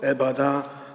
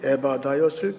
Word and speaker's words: 에바다: 듣는 말, 분명한 말이 에바다였을 거예요. 에바다. 특별히 에바다 할 때 맨 뒤에 히브리 말 H 발음은 아주 강한 발음이에요.